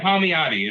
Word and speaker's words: Palmiotti: So did I pronounce that correctly? Yeah, Palmiotti.